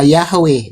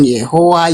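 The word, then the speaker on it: Yahweh: Jadi pengucapan Yodheohe itu pengucapannya yang paling tepat adalah Yahwe bukan Yehua.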